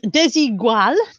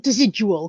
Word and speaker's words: Desigual: This is desigual. I know it's not desidual because I used to pronounce it desidual and somebody corrected me.